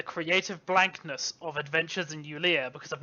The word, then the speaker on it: Eulea: Eulea. Alexandria. Wait. Oh, no. I've been reading it as Eula, and whenever I see it, I just think, oh man, terms and agreements.